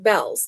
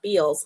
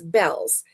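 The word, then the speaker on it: Bealls: bell on it because it's pronounced bells, not bees. A lot of people think that it's bees because it's EA, but it's not. It's bells and um and I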